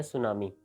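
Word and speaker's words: tsunami: हुआ है वो है सुनामी जिसकी स्पेलिंग टी से स्टार्ट हो रही है और यह वर्ड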